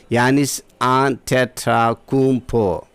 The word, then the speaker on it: Giannis Antetokounmpo: Giannis Antetokounmpo. This is the exact pronunciation. Repeating again. Actually, it is not Giannis. Here Giannis. Giannis not. We have to pronounce it as Giannis Antetokounmpo.